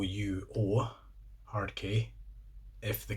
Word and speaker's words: Köln: in question is colon which is called K in Swedish with a hard k k uh o dots Ln which it's also called in German with the same spelling so that explains that